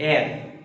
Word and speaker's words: heir: My dear student, here the see the pronunciation air, H-E-I-R, air, okay? A-I-R same pronunciation, okay?